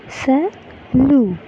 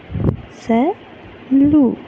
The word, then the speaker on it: salut: who is known to us, we will say salut, salut. So this is how you need to pronounce whenever you are saying goodbye to a person whom you know very well, right?